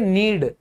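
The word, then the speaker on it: knead: क्योंकि के साइलेंट होता है। हम इसको कहेंगे नीड।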